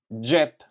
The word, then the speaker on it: xhep: And then the x plus h, you are going to pronounce it this way. Xh. Xh. Xh. For example, pocket xhep. Xhep.